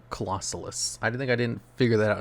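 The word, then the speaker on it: Clausolas: I called this thing Colossus for the longest time. I was saying it wrong. Colossalus.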